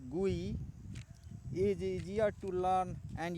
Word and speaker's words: GUI: graphical user interface or abated as GUI pronounced GUI is easier to learn